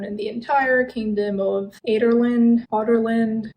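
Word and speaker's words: Adarlan: And of course, Celaena was an assassin known in the entire kingdom of Otterland. It's written as Aderland, but it's pronounced as Otterland for some reason.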